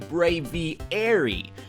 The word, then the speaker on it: Braviary: And Benjamin New Duval, oh god, now I need a pronunciation for his name, followed up by saying Braviary.